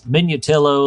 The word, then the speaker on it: Minutillo: We talked pronunciations before the show got started, and said it's Minutillo like armadillo, and I just gave my best efforts with Connie.